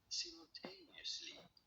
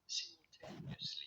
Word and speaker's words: simultaneously: This is normally said as simultaneously. You don't want to stress on the third syllable on the tail. Oh my god, it even goes into the syllables. Simultaneously in British English.